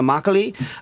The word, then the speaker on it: makgeolli: We have from Hana Makgeolli, Alice Jun, and John Lim. Am I pronouncing everything correct?